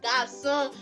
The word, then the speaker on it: garçon: sound like ça va, garçon, so you can differentiate that, oh, garçon has a cédille underneath it, that is why it is pronounced that way, and in your French learning generally.